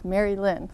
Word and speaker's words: Merilynne: And I said your name wrong. It's Merilynne.